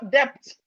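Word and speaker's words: debt: Some people, they will call depth. They will say depth. It's not depth. The proper pronunciation of this word is depth. The proper pronunciation of this word is depth. The B is silent.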